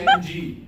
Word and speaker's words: Liu Yang: I said, Liu Yang. And he said, why don't you use it? I said, because you guys couldn't pronounce it.